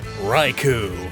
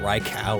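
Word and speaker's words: Raikou: blissful cause it's blissy raiku i always pronounce that rye cow as a kid it's hair is so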